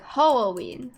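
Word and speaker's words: Hououin: But you say it without enunciating the syllables, sort of like Ho'oin.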